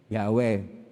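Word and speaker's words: Yahweh: he w he wala pong consonans paano ba bigkasin ang pangalan po ng diyos ay yahw yung iba na hindi marunong magbasa ng titik na mga hebreo ay iba po Ang kanilang kailangang pagbasa nagiginghova.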